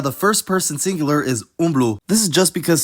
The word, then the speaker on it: umblu: Notice how the first person singular is umblu.